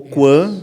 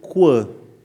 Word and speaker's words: Coin: Então, na verdade o nome coin são duas pronúncias, né? ou quan que é canto esquino em francês. Isso. Ou coin de moeda, moeda, né? Em inglês. Explica senão as não acompanham. Inglês. Eh, então o Coin tem duas pronúncias, ou em inglês ou em francês, né?